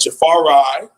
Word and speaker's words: Jafari: to defensive end, and Jafari, found out that's how you're supposed to pronounce his name, Jafari Harvey on the weak side defensive end, number 12 for the Miami Hurricanes.